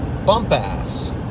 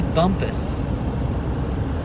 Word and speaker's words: Bumpass: ass virginia yeah and i am pronouncing it right this time believe me i think so yeah it could be bumpus i don't think so the lady on the phone she definitely said bump out did she really yeah